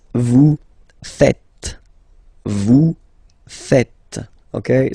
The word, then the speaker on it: faites: It's vous faites. Vous faites. Okay? So remember, final S here is not pronounced, and then this is not pronounced either.